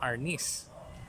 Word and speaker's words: Arnis: so arms okay so sometimes it uh we pronounce it differently that we become arness original is okay so this is a